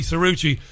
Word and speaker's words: Cirucci: calm serene pleasure from Philadelphia to welcome Johnny suruci to our program Johnny welcome to the program I hope I'm pronouncing your surname properly it it is Richie